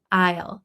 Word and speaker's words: I'll: I I'll is pronounced differently than I will.